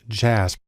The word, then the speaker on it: JASP: a program called jasb it's actually pronounced jazz which is sort of